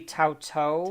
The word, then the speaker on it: Tautou: I'm going to say her name wrong. Audrey Tautou.